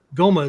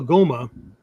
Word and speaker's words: Goma: I'll tell you a little thing here about the way the Goma is the Japanese pronunciation of the Indian Homa, Homa, right?